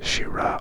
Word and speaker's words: Syrah: variety of shira now you've probably heard this as shira or shiraz it's the same thing just pronounced differently shira written like this